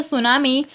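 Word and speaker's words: tsunami: उसी तरीके से गाइस क्या होता है, जो सुनामी होती है, गाइस सुनामी की स्पेलिंग देख लीजिए, ये होती है सुनामी की स्पेलिंग होती है जो कि टी से शुरू होती है।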